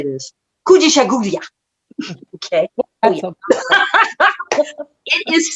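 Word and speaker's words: Kujichagulia: Kujishaguria.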